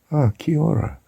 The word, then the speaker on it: kia ora: Kia ora. I wasn't sure how to spell it in our normal English way of writing it.